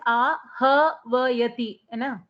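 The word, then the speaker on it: आह्वयति: That ahvayati you have written, the pronunciation is ahvayati, madam, there is a lot of what you call camps. Now we are entering what you call party system when we go there. Okay. You pronounce it the way you wish. I won't complain. Ahvayati. It is very difficult. It is not possible to pronounce that with hakara later.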